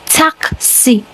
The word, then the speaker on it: такси: But the Russian language, the taxi, the spelling is more of a light s. Yes. Remember how it's spelled. So it's more of it sounds more of a light s. So it's tac t a k and then c. Tac c.